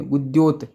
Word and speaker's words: उद्योत: तो याद रखना कौन है, उद्योग चंद। देखो कौन है, उद्योग चंद। कौन है, उद्योग, द्योग नहीं है, उद्योत तो है, ठीक है, हो तो है, लेकिन